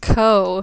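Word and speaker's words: Gou: pronunciation of her name her name looks like go but it's actually pronounced Co and I just said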